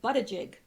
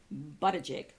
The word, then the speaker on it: Buttigieg: I put this here because I never knew how to pronounce his name, but it is Buttigieg. Who knew? Buttigieg.